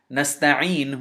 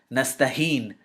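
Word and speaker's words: نستعين: He started pronouncing nasta'een with a ayn. Instead of pronouncing nasta'een with a ayn, he started pronouncing it nastaheen with a ha.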